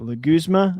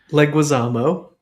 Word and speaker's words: Leguizamo: Like, is it Leguzma? I'm so bad with names. Leguizamo. John Leguizamo. Thank you. Leguzma. I'm terrible. Leguizamo.